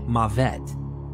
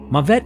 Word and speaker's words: Mavet: Sh is his realm hamori uses the pronunciation mavette so that's what we'll use here mavette is more of an